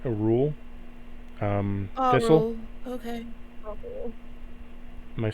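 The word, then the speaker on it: Auril: that the temple the cultists used to worship a rule a-u-r-i-l I'm thinking I'm saying it right a rule um thistle okay am I saying that right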